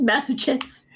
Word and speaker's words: Massachusetts: hardest word to pronounce it's massetts for Massachusetts that is hard to pronounce yeah it's just Mass Chets I only know how